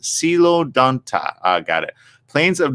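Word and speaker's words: Coelodonta: or known as a hollow tooth that's right pronounced silo danta uh got it plains of northern eurasia historical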